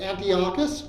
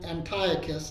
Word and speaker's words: Antiochus: amongst the the generals one was was Antiochus or an Antiochus depending on how you want to pronounce it and uh another uh